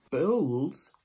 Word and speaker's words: bowls: Bowls rhymes with bow, the plural of bowl, and is where you put your cereal in. And notice my mouth, O. It's written with an O, so we say bowls.